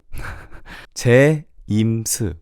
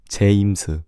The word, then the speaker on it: 제임스: 제임스. So it's 제, J-A-E, 제, 임, I-M, and then s, 제임스, James.